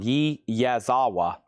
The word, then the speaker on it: Yazawa: Yazawa wa yaz and then awa.